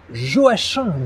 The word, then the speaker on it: Joachim: siècle auteur notamment des regrets et oui on prononce bien jo h1 du bellay je vous propose aujourd'hui une dictée